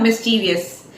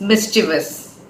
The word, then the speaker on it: mischievous: the first word is this how do you pronounce it it's not mischievous it's mischievous mischievous he is mischievous yet handsome and from